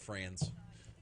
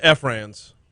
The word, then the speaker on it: Franz: unlike me who doesn't like to be called friends no but they'll be like oh it's pronounced franz z it's pronounced franz for the right amount of money you can